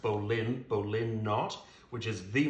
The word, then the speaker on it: bowline: so we're gonna demonstrate the bowline or it's normally pronounced Bolin bowline knot which is